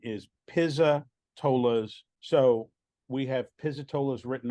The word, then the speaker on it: Pizzatola's: it so that way people know sure the pronunciation is Pisa tolas so we have pizzitola's written on the outside